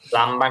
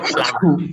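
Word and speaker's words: plumber: প্লাম্বার না, এটা student হচ্ছে ছাত্র প্লামার। এটা হচ্ছে প্লামার, বিটা উচ্চারণ হবে না, প্লামার।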